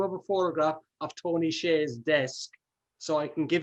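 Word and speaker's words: Hsieh: made that the Tony Shea example is dropped in, kind of forced a little bit, but there's a good logic to it. I think most Americans and Irish pronounce it Tony Shea.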